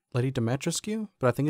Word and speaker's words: Dimitrescu: I think I pronounced her name wrong. I think I said Lady Dimitrescu, but I think it's actually Dimitrescu.